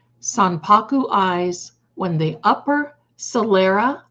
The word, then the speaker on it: Sanpaku: It's pronounced Sanpaku. Sanpaku eyes, when the upper sclera, the white part, is visible.